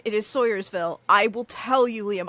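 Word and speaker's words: Swoyersville: It is Sawyersville. I will tell you, Liam, I have heard that pronunciation for this town before.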